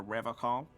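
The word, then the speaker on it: Revachol: to stay strong for rev call he pronounces revon with a hard K unlike other people serious question time this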